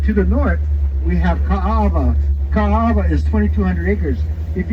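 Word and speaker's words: Kaʻaʻawa: Okinas make the vowel sound very hard, like Ka'ava. The A is really hard sounding there.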